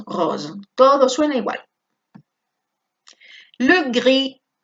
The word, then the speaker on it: gris: Le gris. Atención que la S no suena, ¿eh?